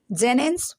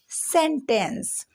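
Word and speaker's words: sentence: अब यहाँ पे भी ऐसी है, लेकिन इसको पढ़ेंगे जेनेंस? बिल्कुल नहीं, इसको पढ़ेंगे सेंटेंस।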